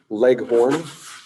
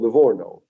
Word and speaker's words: Livorno: about italy levorno or i think in in english it's also pronounced or written leg horn or layhorn it's a city it's a city in italian it's called livorno exactly it's also in in